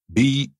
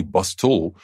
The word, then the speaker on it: bustle: our next word bustle b-u-s-t-l-e remember the t is silent we don't say bus tool we say bustle so as soon as